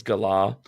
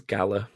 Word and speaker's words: Galar: It's the Galar region, as they've pronounced it. I wanted to say it when I read it as Galar, but then it just sounded like you great